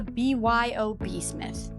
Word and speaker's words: BYOB Smith: This is not called the Bob Smith. A lot of people thought that, and honestly, that's fair. But it's actually called the BYOB Smith. Bring your own bar. The Y is silent, and that's where the joke comes in.